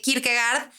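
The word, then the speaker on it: Kierkegaard: que el buen Mike que se pronuncia Kirk verdad que Kirk gard hacía una diferencia entre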